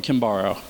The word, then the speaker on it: Kimbaro: The way to remember it is for a brighter tomorrow, vote for Kimbaro.